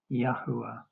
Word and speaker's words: Yahweh: This study concludes the correct pronunciation or transliteration of our creator's name is the contracted form Yah the full form Yahwh seola treasured possession.